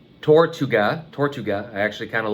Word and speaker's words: Tortuga: I found this on Amazon, and yeah, I do believe it's pronounced Tortuga.